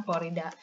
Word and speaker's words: klorida: Kalau HCl jadinya asam, bukan asam kloro, asam klorida. Karena di sini ada airan ida dia bilang. Ya. Jadi yang tadinya kloro kan kloro ya. Nanti jadi klor tambah ida.